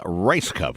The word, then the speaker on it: Rajskub: the program this morning I just got the official pronunciation I was off to our guest this morning actress Marilyn rice cup good morning how are